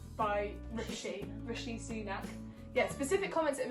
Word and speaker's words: Rishi Sunak: I'm going to say his name right, by Rishi Sunak. Yeah, specific comments that have been made by Rishi Sunak, genuinely like hurtful for people that have spent years and years training.